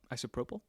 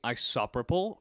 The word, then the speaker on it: isopropyl: right the first time how do you say it though isopropyl oh really some people say isopropol but I think there are a bunch of degenerates they're probably British would